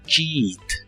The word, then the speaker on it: cheat: copiar en un examen las letras e a de esta palabra se pronuncian como una I larga o doble cheat cheat y usaremos el